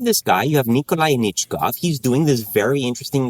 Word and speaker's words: Anichkov: started in, in 1913 when, how do I pronounce this person's name? Nikolai... Anichkov.